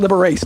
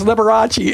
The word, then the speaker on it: Liberace: But you know, um one of my attendings said, "No, he pronounces it liberates." No, he doesn't. No, he doesn't. you know, he calls at 2 a.m. the one morning said, "Yeah, it's Liberace."